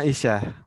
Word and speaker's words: Aisyah: Termasuk juga Aisyah. Yang panjang itu ain-nya, bukan Ismi Fatimah.